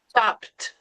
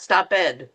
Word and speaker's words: stopped: Not stop it because people will go, "What is that?" Stop. So, you cannot pronounce that. You actually have to change that to the T.